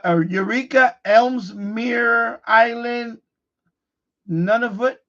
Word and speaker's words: Nunavut: So it's Eureka, Ellesmere Island, Nunavut. How you pronounce it? Nunavut, Canada. Nunavut, right?